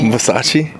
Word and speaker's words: Versace: Versace.